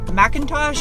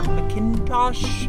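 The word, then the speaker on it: McIntosh: here it's got a macintosh or mckintosh however you want to pronounce it stereo of 950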